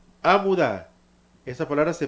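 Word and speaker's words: עמודה: Esta palabra se pronuncia amudá.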